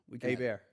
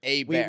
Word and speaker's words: Hebert: Is that how do we pronounce it? Hebert. Hebert. Hebert. Alexander French. Hebert. Oui.